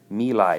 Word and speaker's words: My Lai: My Lai, that's how that's pronounced.